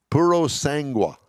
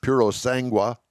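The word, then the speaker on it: Purosangue: year and has confirmed plans to build the purosangwa i guess that's the way you pronounce it its first utility vehicle this year deliveries will begin in 2023.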